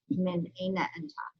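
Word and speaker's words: من أين أنتَ: Min aina enta.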